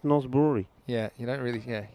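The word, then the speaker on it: Norsborg: spelled but it's pronounced north brewery yeah you don't really yeah you don't say the g the same way you're right it's about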